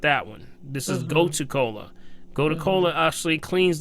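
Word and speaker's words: gotu kola: you but my second one would be called go to Cola go to Cola go to Cola very good would you spell that again please g-o-t-u-k-o-l-a go to Cola okay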